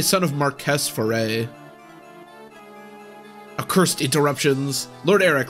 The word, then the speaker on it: Marquess: I keep saying Marquis, but they said it's pronounced like it's spelled, so it'd probably be like Marquess. We'll say son of Marquess Foray.